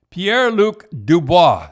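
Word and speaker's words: Pierre-Luc Dubois: trade we we just talk about is um pierre luke dubois is that how you say it yep yeah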